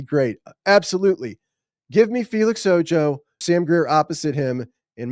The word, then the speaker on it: Ojo: And yes, Ojo is the proper pronunciation of this. I've seen a couple people say Felix Ojo, which is that's not it. They're looking at Felix and I think seeing the O-J-O and thinking that's Spanish. I asked him, he said it's Ojo, J-O-E. That's not how it's spelled, but it's Felix Ojo.